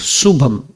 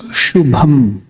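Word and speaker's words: शुभम्: pronounced as Sha so instead of su it becomes Shu so it becomes shubam so that is the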